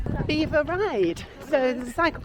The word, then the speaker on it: Belvoir: It's pronounced Beaver. Beaver Ride.